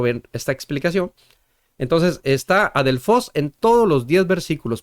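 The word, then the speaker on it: ἀδελφός: Adelfos sería la pronunciación correcta de de la escritura de esta palabra en griego.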